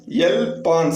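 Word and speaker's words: elles pensent: லாஸ்ட்ல இருக்க NT சைலண்ட் அப்படின்னு நான் உங்களுக்கு சொல்லியிருக்கேன் ஃப்ரெண்ட்ஸ். ஸோ elle pense அப்படின்னு தான் ப்ரொனவுன்ஸ் பண்ணும்.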